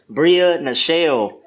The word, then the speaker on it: Bria Nachele: Today we have, you gave her, a great intro, but we have Bria Nachele. Just found out that's how her name is pronounced.